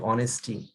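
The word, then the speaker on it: honesty: যেমন আমরা অনেক ক্ষেত্রে অনেস্টি, এখানে এইচ প্রনাউন্সিয়েশনের মধ্যে আসতেছে না, অনেস্টি মানে ওটা আসতেছে বেশি, তো কিন্তু এইচ কিন্তু আছে।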